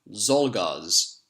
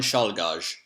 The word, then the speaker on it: Czolgosz: I'm just going to make an educated guess how to say this guy's name, and then I'm going to check the correct way. Leon Czolgosz. Let's have a look. Nope, not even close.